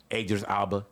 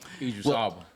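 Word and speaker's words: Idris Elba: Ador Alba. Eras Alba. Excuse me. That's how you say it, right? Idris Alba.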